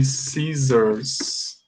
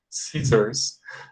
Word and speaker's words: scissors: In English, we say scissors. Scissors. Pay attention to the pronunciation. You have here double S, okay? And this double S has the sound of Z, okay?